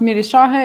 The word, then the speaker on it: Mirah: um thank you uh my name is pronounced Mirah it's uh traditional Albania name uh I don't know